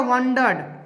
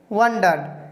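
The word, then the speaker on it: wondered: र, last में र है, इसमें अगर ई डी लगा दिए तो इसका उच्चारण क्या हो गया? वंडर्ड। देखिए ड हो रहा है, लास्ट का डी का उच्चारण वंडर्ड।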